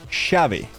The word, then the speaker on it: llave: Argentinians do not pronounce those consonant or that consonant, the semi-consonant, as the J. They pronounce it as sh. So they wouldn't say llave, they would say chave.